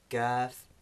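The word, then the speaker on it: كاف: So again, you can hear the similarity, but they shouldn't both be pronounced like the English K. That's only the kaf, the second of the two. The first one, the qaf, is the clicking sound, qaf, in words like Quran.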